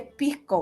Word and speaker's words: pisco: Pero el pisco que tú dices, si lo pronuncias en chileno, se dice pisco, ¿verdad? Entonces, porque se comen la S y se puede transformar en la palabra pico, que eso es totalmente censurable en Chile, ¿ya?